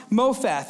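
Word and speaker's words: מופת: the word miracle mean in hebrew well it's pronounced mopheth and it means token it means miracle it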